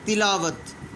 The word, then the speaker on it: تلاوت: کو بتا دیا گیا۔ تلاوت، پہلے کے نیچے زیر، دوسرے کے اوپر زبر، تیسرے نمبر پہ الف، چوتھے نمبر کے اوپر یعنی سیکنڈ لاسٹ